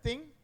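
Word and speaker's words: 听: It's pronounced as ting, right?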